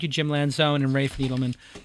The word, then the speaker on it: Needleman: Jim Lanzone and Rafe Needleman. Pronounced that right, Needleman, right? Yeah, that's right. Rafe, I just say Needleman, but it's Needleman. There's a D in there.